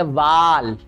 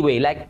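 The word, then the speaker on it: wall: It's never be वाल, इट्स अ वॉल.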